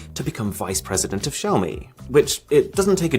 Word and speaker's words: Xiaomi: So the way he described it to people was, if you want to say Xiaomi, then try and say show me, but say the show as if it was part of the word shower.